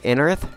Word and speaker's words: Anorith: Anorith? Anorith? Yeah, that's how you pronounce it.